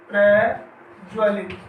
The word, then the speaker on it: प्रज्वलित: आगे है प्रज्वलित, प्रज्वलित तो इसके स्थान पर शुद्ध रूप इसका होगा प्रज्वलित, यानी इसमें एक बार ही आधा जय आएगा प्रज्वलित, यानी लघु वर्ण